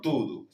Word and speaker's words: tudo: Por tudo. Es una palabra muy utilizada. Todo en portugués tud. Se escribe tudo y se pronuncia tudo acento en la en la primera u.